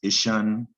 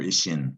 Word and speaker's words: ition: to remember especially spelling in english it's pronounced ishan or ishin depending on where you live and what you learned so it's spelled i t i o n you need to know